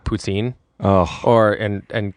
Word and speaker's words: poutine: And it's called poutine. Oh. Or and and French Canadians putin. Putin. puts in. Um, so uh, at least that's how my dad always pronounced it.